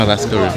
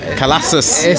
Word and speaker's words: Khalass Karim: If you want to take it to the more Arab turn, it's Khalass Karim, but yeah, man, Khalass Karim for the people that don't know. Because I was hearing a lot of different pronunciations. The answer was saying Khalassus.